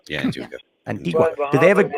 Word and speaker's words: Antigua: Antigua? Yeah, Antigua.